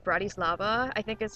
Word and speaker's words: Bratislava: It's actually called Bratislava, I think is how it's pronounced.